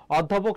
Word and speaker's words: অধ্যাপক: উদিসী এখানে দীর্ঘীকার হবে অধ্যাপক শব্দের অ এর উচ্চারণটা এখানে সংবৃত হবে এবং দেখ প্রশ্ন আসে